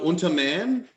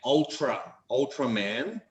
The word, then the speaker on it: Ultraman: Do I know Unterman? Yes. I do know Unterman. In English, we pronounce it Ultraman.